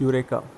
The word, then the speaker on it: Eureka: Hi guys, so today we are starting chapter 5 यूरेका। ठीक है, इसको प्रोनाउंस कैसे करते हैं? प्रोनाउंस करते हैं इसको यूरेका। ई है ना, ई यू मन नहीं बोलते, यूरेका नहीं बोलते, सिर्फ यूरेका।